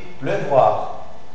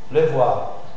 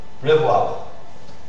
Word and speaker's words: pleuvoir: une chose un peu bizarre parce qu'on dit pleuvoir pleuvoir donc si c'est pleuvoir là tu commences bien